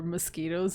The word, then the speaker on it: mosquito: And then Portia asked if there were mosquitoes in Portugal. It's kind of funny because the word mosquito, it's Portuguese word. Oh. Yeah, it's pronounced mosquito. And it's a Portuguese word that the English borrowed.